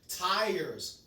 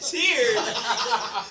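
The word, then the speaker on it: tyres: He said tears. That is not a tire. Tire. Okay. The way it's the way it's spelled throws it off. So like look at it and it's like I think it says T. This one says T Y R E S.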